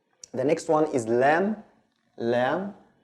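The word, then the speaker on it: ل: The next one is lam, lam, like the L in English.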